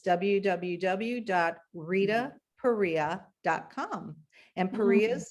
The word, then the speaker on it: Perea: And Perea is spelled P-E-R-E-A. And I'm sure I pronounce it incorrectly because I call you Pereira, but I like it like that.